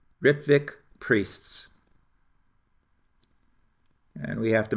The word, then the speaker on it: Rittvik: R-I-T-T-V-I-K, Ritvik. You will thus pronounce the word how it should be pronounced when you read it in any of my articles.